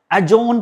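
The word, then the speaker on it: adjourn: इसका में डी होता है साइलेंट। हमेशा याद रखना। एजोन पढ़ते हैं।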